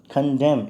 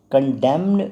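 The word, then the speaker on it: condemn: कंडेम, इसमें न का उच्चारण नहीं होता, कंडेम्ड नहीं पढ़ते, इट्स कंडेम, ना कि कंडेम्ड, न उच्चारण नहीं है।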